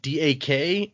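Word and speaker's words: Dac: D-A-K? Sorry, I have a hard time hearing exactly what his name is. It is, we call him Dak with a D-A-C, but yeah, it's the same pronunciation.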